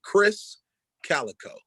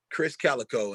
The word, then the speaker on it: Krizz Kaliko: will pop up k-r-i-z-z k-a-l-i-k-o it's pronounced chris calico chris calico and all you got